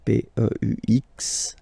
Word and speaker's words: peux: Then tu peux, same pronunciation and same spelling or writing, okay, P-E-U-X, okay, you don't pronounce the final X, tu peux, okay, je peux, tu peux.